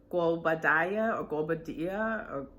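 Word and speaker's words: Guobadia: this but yeah fallon and um and simon guo badaya that's how you pronounce it oh excuse me i didn't ruin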